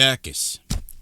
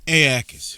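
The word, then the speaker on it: Aeacus: Ais Aakis Aakis who married Endis and Magaro was widely renowned for his piety.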